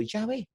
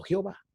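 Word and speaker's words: Yahveh: acuerdo general de que la pronunciación original debe de haber sido llave no jehová de allí porque el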